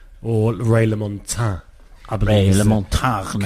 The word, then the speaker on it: Ray LaMontagne: Ray LaMontagne. Correct pronunciation.